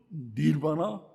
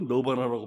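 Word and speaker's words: Nirvana: 커트 코베인, 그룹 닐바나, 영어로 너바나라고 발음하죠. 너바나. 우리 이제 한국식으로는 닐바나, 그룹 닐바나 리더예요.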